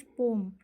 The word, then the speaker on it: poem: तो हम लोग बढ़ते हैं पोम की तरफ, sorry, it's नॉट पोएम, इट्स पोम। Okay, आप लोग कभी भी मतलब पोम को पोएम प्रोनाउंस नहीं करिएगा, ठीक है। इसका जो सही प्रोनाउंसिएशन होता है वो होता है पोम, POEM, पोम।